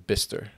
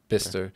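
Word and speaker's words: Bicester: in that they were in bister it's not spelled like that it's b i c e s e r that's so odd bister that's about an hour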